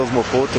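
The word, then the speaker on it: Osmocote: Osmocot. Pronunciei certo, Sérgio? É isso daí. O correto é Osmocout mesmo, né? Forma como você lê, como se espere.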